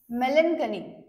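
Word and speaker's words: melancholy: याचे सिनोनिम्स काय आहेत तर ग्लमी चलन आणि मेलनकली काय आहे प्रोनन्सशन एम एल एन सी एच एल वाय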